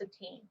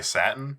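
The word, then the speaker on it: Satine: due okay guys guys it's pronounced sateen oh yes your sateen sateen Phoenix made a second was gonna say satin this is not a color that saltine like a cracker okay okay well we're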